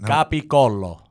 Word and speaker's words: capicola: Capicolla. Oh, Gabagol, Pete, right? I'm saying it right? You're not saying it right, no. How is it? Capicollo. That's the right way.